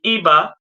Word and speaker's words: Iba: And I started that show in 2019 called IBA. I B A. The I is pronounced as E in in in Euroba, right? I is pronounced as E. Eba, which means it's a